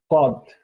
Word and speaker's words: cod: ওকে, সো চারটা season দেয়া আছে এখানে, এখানে এই যে পড়ে cod, ক, এটা কি হবে? ক, ডি সাইলেন্ট, co, ক মানে হোয়েন।